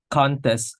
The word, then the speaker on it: contest: Like contest as noun, the first syllable is more prominent, and the contest as verb, the second syllable is more prominent.